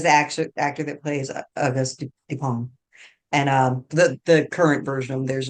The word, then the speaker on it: Dupin: And I keep mispronouncing his name, but it's Dupin, Dupin, Dupin. You think Topin.